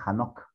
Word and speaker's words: Enoc: especial el libro de enoc se pronuncia hanocq que está relacionado con